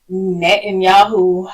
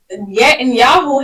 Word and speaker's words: Netanyahu: One of my thoughts on this is I don't feel that Netanyahu, I believe that's how you say his name,